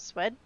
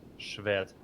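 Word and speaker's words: Szwed: How do you say his last name properly? Shved. Oh, Shved? Yes, so SZ in Polish, it's like same as SH in English.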